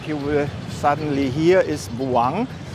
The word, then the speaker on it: buang: The first syllable Bu is pronounced quickly and emphasized. The U sound like a short U. The N at the end is pronounced like the English N, with the tongue pressing against the palate to produce the sound.